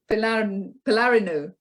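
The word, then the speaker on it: Pylarinou: EFI and then p-y-l-a-r-i-n-o-u and how do you pronounce that um palarino good thanks for that that was Thomas putting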